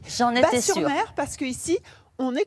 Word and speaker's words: Batz-sur-Mer: voir parce qu'en fait on prononce pas le Z on dit j'en ai pas sur mer parce que ici on